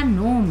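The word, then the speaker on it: gnome: है नेक्स्ट है आपका नोम नोम के देखिए एन से पहले है तो जी साइलेंट है रले इसमें भी क्या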